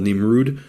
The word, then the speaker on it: Nimrud: site um I think it's called nimrud which is just the Arabic pronunciation of nimr um you got wonder